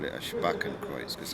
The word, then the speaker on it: Spakenkreuz: So it's called correct pronunciation is a Spakenkreuz.